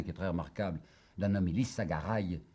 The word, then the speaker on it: Lissagaray: très remarquable d'un ami lissagaray il la gare est peut-être prononcer je crois plutôt que c'est lissagaray qu'il faut dire ce n'est qu'à sa